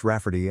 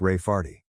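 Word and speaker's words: Rafferty: to name my niece rery pronounced raferty and not at all like Ray farty my niece has been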